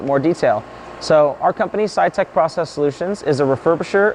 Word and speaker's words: Sitek: So our company, Sitek Process Solutions, is a refurbisher of front-end semiconductor equipment.